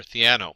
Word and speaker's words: Theano: And the first thing you'll notice is that Keras runs on top of either TensorFlow, CNTK, and I think it's pronounced Thano or Theano.